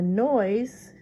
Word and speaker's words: noise: you don't like it the next one is noise and the S sounds like a this is like a Z in that word and there's a silent e hears once it ends